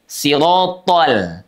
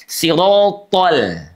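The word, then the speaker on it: صراط: Oleh karena thnya tebal maka tidak jarang. Ini ada yang menyebabkan huruf lamnya ikut menebal. thol thol l-nya tidak ikut menebal karena huruf lam itu dia infitah ya tidak lengket juga tidak isti tapi istifal pangkal lidahnya turun siratol ah l-nya udah kembali lagi normal tuh si tebal ro tebal th tebal tapi lamnya tipis siratol siratol nah ihdinasiratal muah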